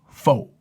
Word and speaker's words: pho: does this whole fucking bit about pho and foo. Like he's like, okay, can I get some pho? And the lady's like, oh, it's pronounced fa.